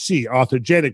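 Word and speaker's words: authigenic: into them so also they're inconsistent with orthogenic that's spelled a-u-t-h-i-g-e-n-i-c orthogenic which basically means formed in place right so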